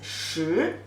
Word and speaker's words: 食: So this character together, pronunciation is 食.